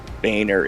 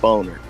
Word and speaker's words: Boehner: like come on man it's not pronounced bainer it's boner just admit it he